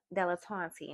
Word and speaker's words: dilettante: Okay, so I pulled dilettante, and I had to pause for a second to learn to pronounce this correctly.